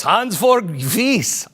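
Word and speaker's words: Hansjörg Wyss: Yes, Hans Georg Wyss.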